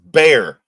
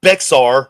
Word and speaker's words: Bexar: It's actually pronounced bear, not Bexar, like most people call it. This is pronounced bear. It's pronounced bear.